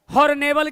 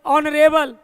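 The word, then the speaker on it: honorable: Next आ जाइए, आ गया हॉर्नेबल की ऑनरेबल, हॉर्नेबल की ऑनरेबल, और एच को साइलेंट करेंगे, एच को प्रोनाउंसिएशन साइलेंट करेंगे और इसके साथ आर्टिकल हम क्या लगाएंगे?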